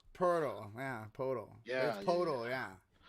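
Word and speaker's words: Pöltl: podem poda i mean i know how it's spelled but they say purdle portal yeah portal yeah it's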